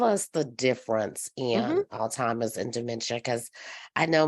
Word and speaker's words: Alzheimer's: Alzheimer's. Alzheimer's, yes, Alzheimer. You just kind of let it roll. just Alzheimer's. Yes. Alzheimer's. Okay. Yes. So tell us the difference Mm-hmm. in Alzheimer's and dementia, because I